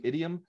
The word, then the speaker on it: idiom: uh it's a truism idiom by the way idiom rhymes with idiot who can kind of